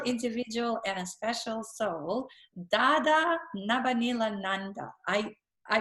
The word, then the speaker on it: Dada Nabhaniilananda: person a special individual and a special soul da da na Benilde Ananda I I pronounced your name correctly dad all right you're